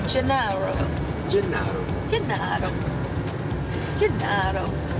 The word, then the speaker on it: Gennaro: Am I pronouncing it correctly? Gennaro.